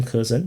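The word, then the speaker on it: Kherson: I like to call him cursen because that's literally pronounced as cursen in English.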